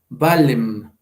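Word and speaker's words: vallem: Esto en latín se pronuncia valem, como una L, nada más un poquito más como en el italiano, ¿no? Como se trata de alargar, valem. Y ya queda valle, ¿no?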